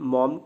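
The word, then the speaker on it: Maugham: मॉम, Somerset मॉम, ये मॉघम नहीं है, मॉम इनको प्रोनाउंस करते हैं।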